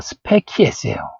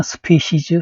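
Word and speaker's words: species: 이걸 영어 발음으로 그냥 스피시즈 할 뿐이에요.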